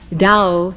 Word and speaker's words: Tao: key to our immortality dao in chinese which as you know is spelled t a o dao means road way or